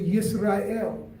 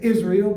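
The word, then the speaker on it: יִשְׂרָאֵל: Jacob and his name was again changed to yes or il today we say Israel but in Hebrew we pronounce it as yes or I am and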